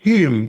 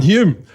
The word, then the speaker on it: Hulme: whom is H. Whom? Is that how you pronounce it? Hume. Just pronounce the L. Yeah, there you go. You're good to go. That's it. Hume, the inspired rider.